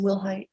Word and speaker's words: Wilhite: And are you Wilhite? Yes, ma'am. Am I pronouncing your last name correctly? Yes, ma'am, Wilhite.